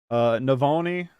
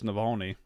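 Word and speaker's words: Навальный: Navalny won, and they mispronounced it. Questlove mispronounced it. Navalny. Navalny, ain't it? Pretty sure it's Navalny.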